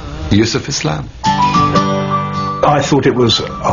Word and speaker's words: Yusuf Islam: He said, can't you use the Arabic pronunciation? I said, yeah, why not? So, Yusuf Islam.